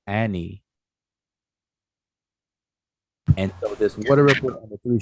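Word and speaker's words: Ani: one it would be a nui anui but we pronounced him as annie and so this water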